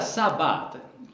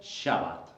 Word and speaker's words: Shabbat: La palabra Sabbat, que tiene su origen en el término hebreo, también se puede pronunciar como Shabbat.